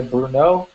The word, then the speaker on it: Brno: A pronúncia da cidade é Brno.